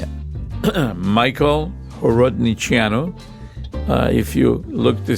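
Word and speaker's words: Horodniceanu: Michael Horodiano.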